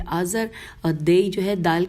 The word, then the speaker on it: آزر: نام یہ تھے آبان، آزر، دئی، اچھا ہجے کر لیتے ہیں، الف مدہ بے الف نون آبان، الف مدہ زال رے آزر، اور دئی جو ہے